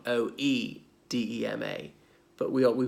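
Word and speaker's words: oedema: same but is it there's an Oh on the front Oh e de ma but we are we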